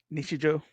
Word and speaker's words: Nichijou: Nisha Joy. How do you say that? Nisha Joe.